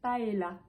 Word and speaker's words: paella: et pour terminer ce mot on va le prononcer paella une paella paella voilà n'hésitez pas à me dire combien